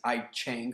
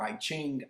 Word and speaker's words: I Ching: And as you already may know from the writings in the Chinese I Ching or I Ching, I've heard it pronounced both ways, also known as the